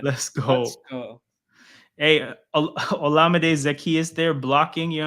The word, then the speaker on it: Olamide: His Twitter name gives us the pronunciation, because his Twitter day is Llama Day, like llama as in the animal and day, right? So it's like, then he has in his bio, I think, like, that's how you pronounce my name. So it's Olamide. Okay.